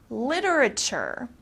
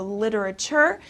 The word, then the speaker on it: literature: actually theirs all right literature okay in the united states we especially pronounce this t very softly the t becomes very soft so literature means books and writing